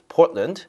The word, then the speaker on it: Portland: 포틀랜드가 아니라 발음 어떻게 해야 돼요? Portland. 자, 여러분 지금 이걸 보지 않고 듣고 있다고 생각하세요. 그럼 Portland 그렇게 이해하셔야 됩니다.